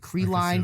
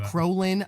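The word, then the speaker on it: Krillin: People have butchered Krellin since I was a little kid. Krellin, Krolin, and I'm like, there's not an O in Krellin.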